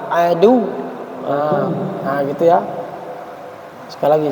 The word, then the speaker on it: عَدُوٌّ: Jadi ketika dia wawnya bertasdid sama waw tidak bertasdid berbeda ketika dia disukunkan. Maka ketika dia itu tidak bertasdid maka bacanya adu. Jadi mat tobi'i dia. Tapi ketika dia bertasdid maka dia tidak jadi mat tapi ditekan adu.